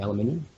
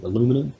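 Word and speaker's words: aluminium: or eight mil thick, you know, aluminum or aluminum as you guys say. Yeah. There's an iron there. You know, there's an extra iron there that you don't pronounce.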